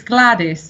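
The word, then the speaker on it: Gwladys: you make grandma what good ladies how you pronounce that gwl ady is oh yes that's Welsh it's um it's Gladys it's quite a popular name in Wales oh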